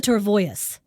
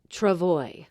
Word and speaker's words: travois: I'm Kelly and I'm candy what is a tervois it is pronounced Travoy oh parlez-vous Francais pardon I thought you spoke